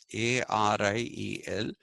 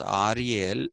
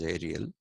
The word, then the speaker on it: Ariel: who goes by the name of e SEL a r i e l is a Frenchman so pronounce it as Ariel and not as Ariel the English pronunciation is Ariel uh but Ariel is the uh French pronunciation